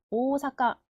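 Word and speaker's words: おおさか: 오사가 오가 두 글자요 뒤쪽에 있는 오가 날아갑니다 오사카 오사카 앞에 오가 두 박인 거죠 만타 오이 오이 뒤쪽에는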